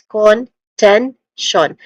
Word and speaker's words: contention: Contention. Ten being the stressed syllable here. So starting with con, which has a schwa sound, a weak and stressed o vowel sound. So con. Again, it's not totally con, and and it's definitely not a long u sound like con, but it's con. It's in between o and con, con.